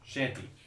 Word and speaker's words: Chaganty: Anish Shanti. Am I saying that right, sir? I can't really see it. I think it's CH. It's spelled A-G. Chaganty.